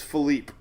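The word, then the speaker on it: Philippe: how to pronounce it I've been saying Felipe I don't even know I think it's phelipe so we're going to find out from the official Atlantic pronunciation guide right now here we go Philipe there's no e at the end why have nobody corrected me it's phelipe I've been saying Felipe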